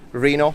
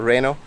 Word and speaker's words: Reno: of photography, the OPPO Reno or Reno. I pronounce it in Italian way.